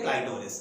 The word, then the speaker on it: क्लाइटोरिस: क्लाइटोरिस आपको पता है एनालॉगस ऑर्गन होता है, जैसे मेल में पेनिस होता है, ठीक वैसे ही ये होता है क्लिटोरिस, इसको बोलते हैं क्लाइटोरिस। अगर प्रोनाउंसिएशन हम प्रॉपर करें तो इस तरीके से माय